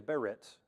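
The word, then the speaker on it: בְּרִית: B-E space R-I-T, and it's pronounced Berit. It's two different consonants in Hebrew.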